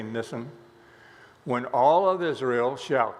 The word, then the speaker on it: Nisan: This is the first month of the Jewish year, pronounced in different ways. I'm going to say Nisan. Some people say Nisan, but most say Nisan.